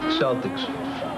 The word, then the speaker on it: Celtic: Celtics. You know, it's actually pronounced Celtic.